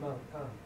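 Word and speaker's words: מַלְכָּה: So that is a ka, not a kh. See the difference? Do it again. It's mal ka. It's mal ka. Mal ka. Mal ka. The shva is silent.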